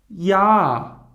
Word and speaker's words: Jahr: If the letter er or er is at the end of the word, it should be pronounced like weak a. Okay? Here we have an old example. Das Jahr.